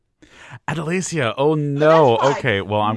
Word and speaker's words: Adelasia: Please join me in welcoming to the podcast, Adelaia. Hi. Thank you for having me. Please tell me I said that right. It's Adalacia. Adalacia.